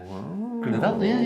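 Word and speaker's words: Grüner Veltliner: Is that how you pronounce it? Yeah. Gruner Veltliner, yeah, that's how it is.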